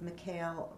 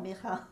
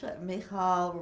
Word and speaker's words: Michal: on that, because you did also work with Mikhail Rauscher. Am I pronouncing her name? Michal. Okay. It's okay. Michal Rauscher, who we invited to speak here as well, and I know you collaborated with her.